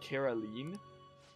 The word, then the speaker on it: Caroline: That's how it's pronounced, Caroline.